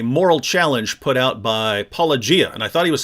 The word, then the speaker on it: Paulogia: I don't know how he pronounces Paulogia. He says Paulogia.